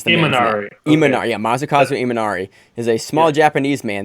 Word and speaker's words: Imanari: you misspelled so I felt both ways masakazu imanari M&R Eamonn Aria masakazu imanari is a small Japanese man that we've covered